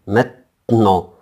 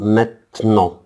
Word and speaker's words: maintenant: maintenant. لاحظ أن حرف الـN هنا يعني يعتبر أن هو لا ينطق. maintenant.